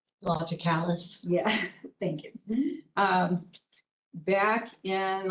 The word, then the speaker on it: Logicalis: Included in tonight's bill, there is a check for, I'm not sure how to say this, local, LOGICALS. Logicalis.